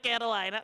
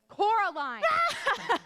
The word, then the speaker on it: Coraline: They call you Coraline instead of Carolina. Not Caroline at all. Dasvidanya, Caroline. It's Coraline.